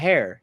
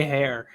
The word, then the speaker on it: heir: And not to mention, he just told Marjorie that we need a heir. You need to basically. You always say hair. It's heir. This H is silent.